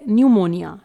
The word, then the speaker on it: pneumonia: तो जी सबसे पहला वर्ड है न्यूमोनिया, स्पेलिंग है PNEUMONIA।